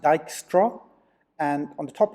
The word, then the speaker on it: Dijkstra: straight into dijkstra's algorithm it's pronounced Dykstra and on the top